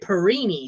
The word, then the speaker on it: Perine: long since gone but they pronounced it perini so when they started saying this one it was perini what's the Tarantino movie